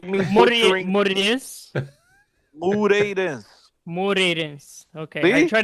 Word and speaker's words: Moreirense: Moreirense. Moreirense. Okay, I See? try to make it a Look, two-syllable word, but it's a it's three-syllable a three.